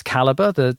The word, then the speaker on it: Calibre: That software, Calibre, not ER, UR. Some people might spell it differently, but that's a great piece of software.